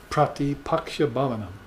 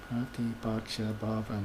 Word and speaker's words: Pratipaksha bhavanam: Pratipaksha bhavanam. Pratipaksha bhavanam. 7-syllable word, see, in Sanskrit.